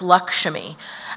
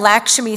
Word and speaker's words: Lakshmi: named Lakshmi Singh and the sort of Indian pronunciation of that name is Lakshmi and Lakshmi Singh is like look my family's from Trinidad and Tobago this is how we say it right I really end